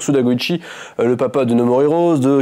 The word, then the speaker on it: Suda Goichi: Goichi si on est si on la joue puriste on la prononce à la japonaise donc Suda Goichi le papa de nomorirose